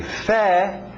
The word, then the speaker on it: February: Agora esse mesmo final, January, February, sem esse R, como se o R não estivesse aí, ok?